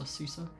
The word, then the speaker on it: CISA: do you say it sisa not sisa cisa the the cyber security